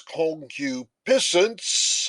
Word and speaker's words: concupiscence: My friends in Great Britain pronounce this concupiscence. I think I prefer the American pronunciation.